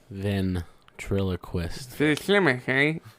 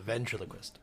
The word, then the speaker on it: ventriloquist: considered like ventriloquist ventriloquism van triloquist yeah the v triloquist um is that what it is it's not van it's V it's vanen I've been